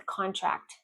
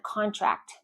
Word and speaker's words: contract: The client signed the contract yesterday. The economy may contract if consumer spending falls. The economy may contract if consumer spending falls. Contract, piece of paper, you sign it. Contract, to get smaller.